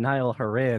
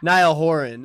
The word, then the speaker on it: Niall Horan: yeah i don't really think he's gonna stand nile haran and make fun of somebody who's not yeah sorry niall horan it sounds like i'm like doing that thing